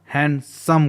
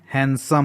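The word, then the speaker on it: handsome: होता है चलिए एग्जांपल यहां पर एन के बाद दी है तो यहां भी दी साइलेंट होता है कई बार हमें करेक्ट प्रनंसीएशन नहीं मालूम होने की वजह से हम इसको इसका उच्चारण हैंडसम करते हैं बट इसका करेक्ट प्रनंसीएशन हैंडसम होता है चलिए देख लेते हैं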